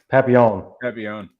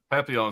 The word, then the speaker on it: Papillon: Papillon. Papillon.